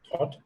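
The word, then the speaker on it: Thoth: It's called Thought. I think you pronounced it correctly.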